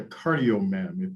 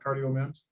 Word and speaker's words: CardioMEMS: So I think it was about the CardioMEM, if I'm pronouncing it correctly. What could you share? Could you review just a bit of that section again about CardioMEMs? Right. So CardioMEMs, it's actually CardioMEMS.